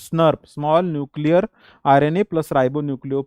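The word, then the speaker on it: snRNP: nuclear ribbo nucleo proteins snurp this is pronounced as snurp small nuclear RNA plus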